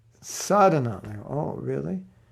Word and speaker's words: sadhana: So they don't say sadhana, which has a long A in the beginning. They say sadhana. I had some bad sadhana today. I'm like, it's not sadhana, it's sadhana.